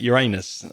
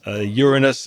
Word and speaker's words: Uranus: Notice I didn't pronounce it Uranus. Uranus is the correct pronunciation. But some people do pronounce it Uranus, but they're wrong.